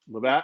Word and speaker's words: Levack: You got the name wrong. It's Levack. It's Levack.